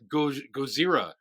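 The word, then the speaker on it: Gojira: But it's not even Gozira. That's the Japanese way to pronounce Godzilla, by the way.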